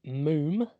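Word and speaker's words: Múm: So the little bit of background is this is an Icelandic band called Moom, pronounced Moom. It's actually M-U-M with one of the little lines above the U.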